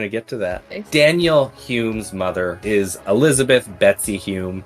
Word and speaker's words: Home: have an important question why are we pronouncing this Hume that's how it's pronounced it says who the Scottish oh the Scottish of course they're pronouncing this not home okay yeah I know